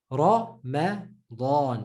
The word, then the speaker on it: Ramadan: But the correct way is Ramadan, because there's two full letters in that word. Ra, ma is normal. Da is again full. Dawn. Ramadan.